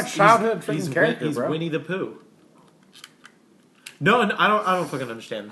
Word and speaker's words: Winnie the Pooh: Weenie the Pooh? Weenie the Pooh? Winnie the Pooh.